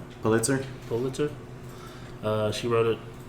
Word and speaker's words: Pulitzer: Pulitzer.